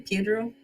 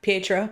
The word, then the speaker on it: Pietro: Well, except that whole how do you say his name? Pedro. Oh yeah, Pietro.